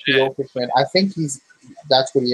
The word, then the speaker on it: Kyokushin: If it's Kyokushin, that's how you say it, Kyokushin.